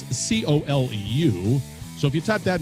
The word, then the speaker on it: Colu: And it's Colu. That's Coleu.